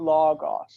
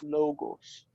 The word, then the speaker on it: logos: Also in Greek, by the way, it's not logos, it's logos.